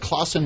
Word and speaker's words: Clausen: It's like Clausen without the L.